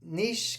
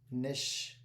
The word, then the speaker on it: niche: So niche can be pronounced niche. Niche nish.